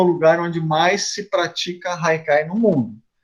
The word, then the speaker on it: haikai: O haikai é uma palavra, então, de origem japonesa, né, se escreve com H, mas tem esse som de R, e ali muitas vezes